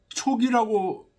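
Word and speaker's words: 屬: 촉기 기로의 고지 이때 이거 요건 속자요 촉이라고 발음합니다 불러 모다는 뜻일 때는 촉이라고 뭐 무에 속한다 할 때 속이라고 읽고요 기로는 이제 노인들 거기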